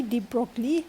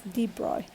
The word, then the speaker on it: de Broglie: wavelength so color h and there my chimney deep broccoli but we pronounced as deep roy okay so it is deep broadway flank okay